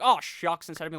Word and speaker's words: Shough: name looks like tyler shall but apparently based on what i've been looking at how the announcers say it his name is actually shuck like you're when you're